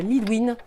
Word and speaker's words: Lidwine: Bon, je ne suis pas travaillée non plus, mais d'autres Lidwin qui, elles, se faisaient appeler Lidwin. Elles faisaient prononcer le W.